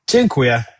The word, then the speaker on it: Dziękuję: Dziękuję. Dziękuję. Okay, thank you very much. Dziękuję.